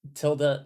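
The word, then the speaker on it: tilde: So it's the like tilda like till death.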